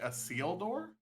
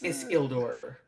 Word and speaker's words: Isildur: Did you say a seal door? It's Isildur. Like there's a space, but it's not Isildur. Isildur.